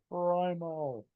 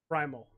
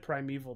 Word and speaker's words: Primal: Um did basically save Primal. Primal. I said Primeval, didn't I?